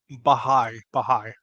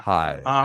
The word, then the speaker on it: Baha'i: next one, I'm going to take a crack at pronouncing this, Mark, and correct me if I'm wrong. The I Baha'i will. Faith. Did I get that? Uh, Baha'i. It's close. So I was close. Baha'i. Yeah. Baha'i.